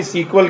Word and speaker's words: SQL: इसके अलावा डेटाबेस का एक सॉफ्टवेयर है माई सीक्वल के नाम से।